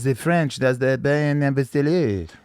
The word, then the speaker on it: Abasolo: She got the Bachelorette, and then she ended up picking this guy, Bryan Abasolo, right?